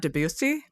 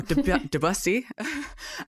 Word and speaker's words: Debussy: Yes, it's definitely not Debussy, because that makes me think of Gary Busey, and that's not the same thing.